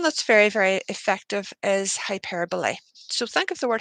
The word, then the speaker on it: hyperbole: they leave so that's that's hyper okay so hyperbole is how you say this hyperbole means exaggeration